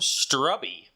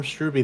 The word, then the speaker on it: Struby: I am going to check the name pronunciation on that because I think we did get it mixed up last week. But I know he does have it. So it is, yep, Storm Struby. That is correct.